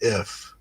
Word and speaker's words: IPH: So it's Shade notes the acronym IPH can be pronounced if.